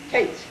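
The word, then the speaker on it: Katz: K-A-T-Z, you pronounce it Kate? Kate's. Oh, wow. not Kat.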